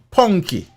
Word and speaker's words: Punky: in the morning, the farmer, Davian Palmer, otherwise called, I don't know if it's Punky or Punky, but me I'll call him Punky. Like as in punk, according to the allegations.